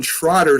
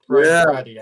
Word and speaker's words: Trottier: The New York Islanders' Byron Trotter scores his 10th Brian Trottier. Trottier.